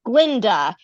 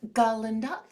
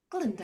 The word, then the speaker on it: Glinda: first act happens, and she changes it to Glinda after Dr. Dillamond is silenced because now the Ga is silent.